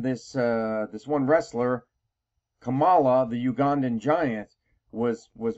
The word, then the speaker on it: Kamala: opponent kamla Harris and yes I am going to try my best to pronounce it as kamla you see I was